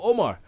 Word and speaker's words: Omer: He said the pronunciation is Omar, but it's written as Omer.